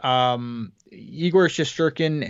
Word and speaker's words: Igor Shesterkin: So the Rangers, Igor Shesterkin and thank you for saying it right.